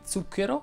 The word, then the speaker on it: zucchero: pronunce sorda e sonora c'è la z sorda di zucchero e la z sonora di pranzo che hanno la trascrizione